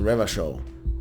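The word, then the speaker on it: Revachol: he raped their capo so ravichow is pronounced the river show in fact rev a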